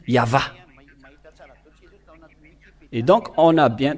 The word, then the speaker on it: Yahvah: le voilà et voilà le vave en phonétique ve ainsi que vave ou VO ou V donc c'est bien un V l'pellation depuis le début il n'y a pas de Hébreux modne mais c'est bien l'hébreux ancien vers Mo- 200 qui a précisé que c'est bien V quand l'pelle donc le WH ou IH VH c'est bien le vave V ou yava et donc on a